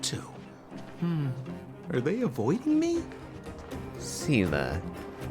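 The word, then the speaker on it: Seele: Sela. Not the way I would have pronounced that, but... Never actually heard that name spoken.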